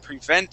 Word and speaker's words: prevent: So a barrier would prevent someone from getting through or getting into wherever you're blocking them out of. Okay, good pronunciations here. Prevent, make sure that the accent is there at the very end.